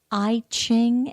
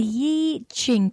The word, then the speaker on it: I Ching: people say it's the I Ching and then it's just an i and CH ing well the Yi Jing pronunciation is just a bit more Asian in its influence and the I Ching